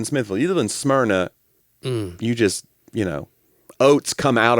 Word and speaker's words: Smyrna: We have people in the South that they make Smyrna. Yeah. Like a 3-syllable word. Well, they say Smyrna.